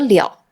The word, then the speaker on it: 了: 注意了，这里的了是多音字，读了。